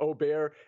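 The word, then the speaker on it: Åberg: both Min Lee and L AB here or Oar as it's properly pronounced at 20 to1 I think both of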